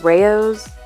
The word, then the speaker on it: Rao's: do get that brand I think it's pronounced Rao's it's RA o because they have less